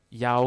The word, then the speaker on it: Yao: Yeah, since we are on it, how do you pronounce it? Is it Yao, correct, no, right? it's just Yao.